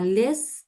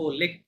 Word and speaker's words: les: দেন Il adok ইল আদো, adok হ্যাঁ, les uh, ভয়তুক না লেস কেন, লে, আহ, লে, আচ্ছা লে, লে, ইটস নট লেস। লাস্ট এর সম্পর্কে সব সময় কেয়ারফুল থাকবেন, ওটা অধিকাংশ ক্ষেত্রে সাইলেন্ট, হ্যাঁ, উচ্চারণ হবে না।